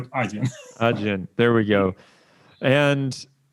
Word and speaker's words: Adyen: So, because I've heard a lot of versions from Odien to Adyen to like something like this. But let's stick to Adyen.